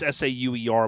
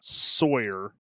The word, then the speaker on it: Sauer: Now it's Sauer, but I still say it wrong. We talked about this too when I was with him. It's not Sawyer.